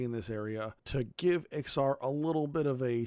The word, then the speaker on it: Ixar: later be named as XR at least that's the pronunciation I'm going with it's spelled IX AR so I'm going with a pronunciation similar to the film company Pixar p IX AR if